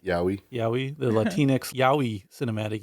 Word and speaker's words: Yaoi: How do you pronounce that? Is it Yaoi? Yowie.